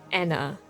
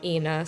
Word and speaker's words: ENA: want to say that i know that her name is probably pronounced anna but i always end up saying ina so regardless of whether